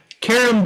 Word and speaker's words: carom: Carom billiards. I'm not sure of the pronunciation.